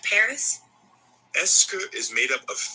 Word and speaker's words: est-ce que: Est-ce que is made up of 3 words. Est-ce que. Since est-ce que is such a common phrase, it's usually pronounced est-ce que when it's said quickly.